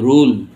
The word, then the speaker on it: rule: তখন ইউ এর উচ্চারণ ইউর মতো হচ্ছে, দেখো রস্যু মতো হচ্ছে, আবার দীর্ঘ যেরকম রু, RUE, রু, রু মানে দুঃখ, RULE, রুল, রোল মানে তো জানো, রুল অর্থ নিয়ম, রোল, রোল সূত্র।